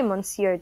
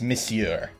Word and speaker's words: Monsieur: don't know until you try Monsur justice it's Monsieur if Aaron were here he would if I was Japanese not French thank you very much Matt er that's kind of common knowledge that it's pronounced Monsieur and I'm not really